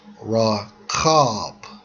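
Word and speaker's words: רחוב: Hebrew Strong's h73 39 pronounced as raw cob okay broad or open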